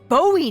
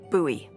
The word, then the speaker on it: Bowie: no warning he pulls out this huge Rusty Bowie knife it's actually pronounced buoy buoy what no it's like the last name